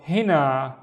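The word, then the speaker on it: هنا: The first syllable is he. So see, we have these 2 loops inside of each other. He. And the second syllable is na, na, long. So hina, and hina means here, hina.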